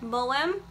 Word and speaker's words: Maugham: Somerset Maugham. Thank you, Dane, for the correct pronunciation.